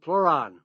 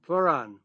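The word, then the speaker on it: pleuran: And I saw some really good research on a substance called pluron. It's spelled P like in Peter. L E U R A N. Pluron.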